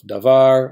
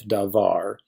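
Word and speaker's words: דָּבָר: If the syllable has the accent, well, duh, we call it the accented syllable, like meh of melek, var of davar, or ka of malka.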